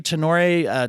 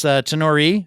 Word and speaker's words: Tenore: I'm joined today by Mallary Tenor Tarpley, and it's Tenore, actually. I said it wrong after all that.